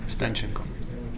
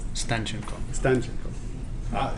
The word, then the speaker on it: Stanchenko: So, Stanchenko, right? Stanchenko. Stanchenko. Emphasis on the first.